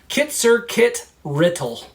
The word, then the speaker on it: Kit-Zer-Kit-Rittle: Kit like a baby fox, Zer like sir but with a Z, Kit again, and then Rittle like riddle but with T's. Kit-Zer-Kit-Rittle.